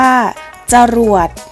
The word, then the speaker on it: จรวด: คะ จรวด อ่าน ว่า จรวด คำ ว่า จะ เรา จะ อ่าน ออก เพียง แค่ ครึ่ง เสียง เท่า นั้น นะ คะ ขนุน อ่าน ว่า ขนุน